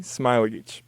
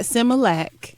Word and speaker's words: Smailagić: for everyone who's listening smiling excellent not Similac that's right so since